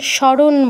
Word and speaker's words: স্মরণ: আচ্ছা, যেটা বলছিলাম, বাংলায় যখন বলি তখন স্মরণ বলি বা স্মৃতি বলি, মানে দন্তস্বর সাথে যে